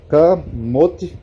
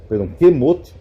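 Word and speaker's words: כמות: Ó, kamot, que é como morto, kemot, né, que aqui na pronúncia fica E.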